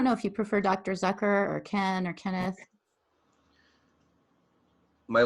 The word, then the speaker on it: Zucker: activists i don't know if you prefer dr zucker or ken or kenneth my last name is pronounced zucker like okay so i guess if i'm gonna